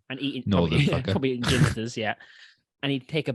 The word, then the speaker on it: Ginsters: Northern probably eating ginsters, yeah.